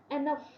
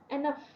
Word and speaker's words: enough: For example the gh at the end of enough is pronounced as f, enough, f, enough, f, ठीक है।